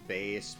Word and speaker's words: Bass: I think out already I know it's technically pronounced based because bass and treble but I always call them bass as a kid I want to